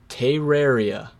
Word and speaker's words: Terraria: It's Terraria.